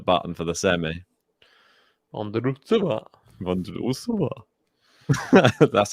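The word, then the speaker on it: Vondroušová: Vondrousova. That's how you pronounce it, though.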